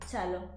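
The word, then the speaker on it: cielo: Wait, how do you pronounce it? Cello.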